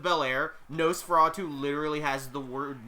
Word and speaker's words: Belair: If Bianca Belair can use her hair, Nosferatu can use his nose. Listen, it works, alright? Hair rhymes with Belair.